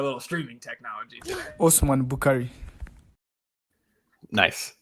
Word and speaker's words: Bukhari: And so this is, look, one of the pronunciations that I know we've had right is Bukhari, right? Yep. It's not Bukhari, it's Bukhari.